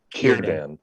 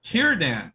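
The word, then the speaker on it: Círdan: the case of sudan it's pronounced kirban kiradan all right in general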